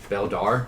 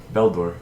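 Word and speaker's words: Beldur: Beldar. Beldor. Beldor. I'll spell it for you. No. Okay. Okay, go ahead. BHE I was already wrong. LDUR. Beldor. Oh, like Balder. But not, because dwarves.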